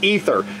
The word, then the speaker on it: Æther: fly masterís ether and it has a combo AE letter at the beginning but asked one of the employees and they said pronouncing it ethers probably right because that's how he pronounces it so we'll go with it now it seems to